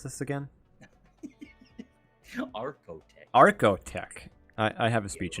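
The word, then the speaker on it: Archotech: Is there ship combat that people are actually going to be able to beat aerotech without aerotech equipment?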